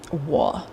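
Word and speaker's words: 我: I'll teach you the tones. Wo is I am. Wo So, it's a down up inflection.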